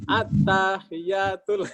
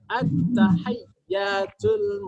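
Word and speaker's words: التحيات: Karena di situ ada ya bertasdid. Ya, kalau kita seringnya baca di sehari kita kan at-tahiyatul. Nah, ini sudah baca tajwid ini ya, harus yang benar prakteknya ya. Ya, jadi bacanya at-tahiyyatul mubarakatus shalawatul thayyibatu lillah.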